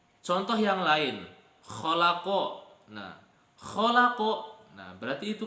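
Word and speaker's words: خَلَقَ: Disinilah fungsi kita mempelajari ilmu tajwid supaya kita tahu cara membacanya. Contoh yang lain, kholako.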